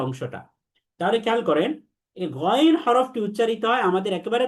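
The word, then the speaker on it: غين: 1 number বৈশিষ্ট্য হচ্ছে গইনের উপরে একটা নুক্তা থাকবে, এবং উচ্চারণ করার সময় যখন আলাদা উচ্চারণ করব, তখন তাকে 3 আলিফ টেনে পড়তে হবে। 2 নাম্বার বৈশিষ্ট্য হচ্ছে গইন হরফটি হচ্ছে সেই 7 হরফের অন্তর্ভুক্ত যে 7টি হরফকে সবসময় মোটা করে পড়তে হয়, এবং এই 7 হরফের একটি হরফ হচ্ছে গইন। এটাকে পোর বা মোটা তথা মুখ গোল করে পড়তে হবে।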